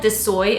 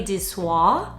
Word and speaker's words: Dior: I think I called it disoy in one of my videos and I was like, wait a minute, that doesn't sound right. Let me look up exactly how it's pronounced, and it's apparently dior. That sounds a lot better.